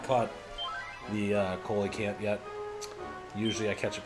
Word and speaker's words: coelacanth: Got to, actually this chat, it's actually pronounced Coelacanth.